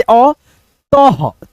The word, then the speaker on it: अतः: जैसे अ, तह, तह, अतः, ह मिला देंगे त में, अतः, अतः।